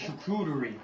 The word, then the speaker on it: charcuterie: That's not how you pronounce it. It's charcuterie.